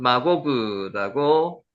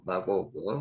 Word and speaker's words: 마곡: 마곡은 마고그라고 발음하고요.